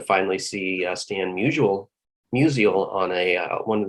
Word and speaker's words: Musial: see uh stan mutual musial on a uh one of these days i'll stop being uh mispronouncing him like most st louisians do it's musial um it would have